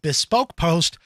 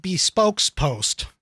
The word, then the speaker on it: Bespoke Post: whole bunch of stuff this is called bespoke post not bespoke's post okay my wife mispronounces